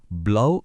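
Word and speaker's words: blau: വെച്ചോളൂ റോട്ട് അടുത്തത് നീലനിറം ഇതിനെ ജർമനിൽ ബ്ലൗ എന്ന് പറയും നമ്മൾ ബ്ലൗസ് എന്നൊക്കെ പറയില്ലേ അതുപോലെ ബ്ലൗ സിമപിൾ അല്ലേ ബ്ലൗ ഇനി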